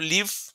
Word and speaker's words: live: Pero cuando es, por ejemplo, live, esa E es totalmente muda.